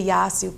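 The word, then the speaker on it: Yassou: We spell it Y-A-S-S-O-U. Y-A-S-S-O-U. Yasu.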